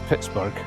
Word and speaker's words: Pittsburgh: Pit became known as Pittsburgh. I'm using that pronunciation because it was named by a Scotsman and that's how he would have said it. It is now known commonly as Pittsburgh.